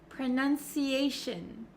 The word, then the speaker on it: pronunciation: my mouth is not opening like an o sound pronunciation pronunciation okay that goes for station visitation cooperation